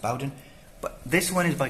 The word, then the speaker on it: Bowden: So it's pronounced Bowden, but this one is by Christie Golden.